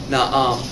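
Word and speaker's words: نعم: Another handy one to have is yes. You pronounce that by saying na'am.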